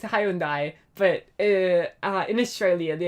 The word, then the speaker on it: Hyundai: Mitsubishi, Mitsubishi, Toyota, Hyundai. It's not even Hyundai, is it? It's Hyundai. But uh in Australia the official pronunciation is Hyundai not I think I've lost it.